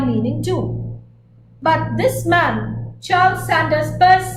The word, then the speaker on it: Charles Sanders Peirce: But if you read Daniel Chandler's Semiotics, the Basics, he says that this last name should be pronounced Peirce, the way you pronounce P-U-R-S-E. So this is Charles Sanders Peirce.